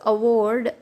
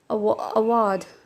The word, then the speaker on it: award: So award in American and R is silent, and it is award in British.